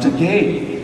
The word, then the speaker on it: Takei: gay as its substitute my last name is pronounced to gay which rhymes with gay so I said then